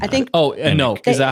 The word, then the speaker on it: Enoch: It's Enoch. I think Oh, Enoch. Is that how they they pronounce pronounced it?